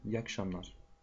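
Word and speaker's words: iyi akşamlar: Это слово тоже мы сокращаем. И на улице говорим. İyi akşamlar. İyi akşamlar. Поэтому вы тоже, пожалуйста, говорите «Я к шамнар».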